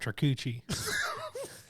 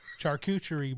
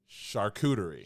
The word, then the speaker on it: charcuterie: do I pronounce it I break it down char No no no not Char Char you can't remember I'm working with a disability I have a disability too char yeah go Shar coup foreign charcuterie charcuterie